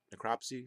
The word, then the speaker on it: necropsy: in the chest but a necrot necropsy necro necropsy is how you say it was performed later